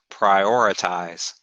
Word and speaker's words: prioritize: right so this one say the stress is on these two eyes prioritize prioritize prioritize your girlfriend